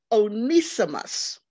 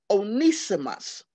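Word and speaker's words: Onesimus: spell it but i might mess up the pronunciation he was called onisimus onisimos now this is how you spell it o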